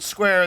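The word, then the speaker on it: Squier: Once asked how to pronounce his name, George Owen Square said, well, you say it as you would the word square.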